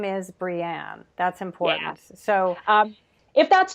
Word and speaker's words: Breanne: want to say that we spell your name is spelled BR EA NM e ji name is Brienne that's important so if that's too hard to